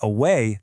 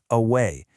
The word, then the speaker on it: away: In the word away, the stress is on way, so the mark goes before it, away.